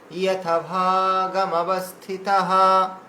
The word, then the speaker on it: यथाभागमवस्थितः: अयनेषु च सर्वेषु यथा भागमस्, अयनेषु च सर्वेषु यथा भागमवस्थितः।